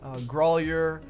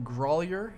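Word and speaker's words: Grauwyler: to show one of those homes irving boulevard growlier road is how that's pronounced g-r-a-u-w-y-l-e-r grollier is how that's called and then let's see uh yeah riverside off of 114.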